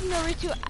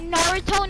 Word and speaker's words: Naruto: Yeah, I love Naruto. It's a Naruto, not Naruto. I don't know why people say it like that.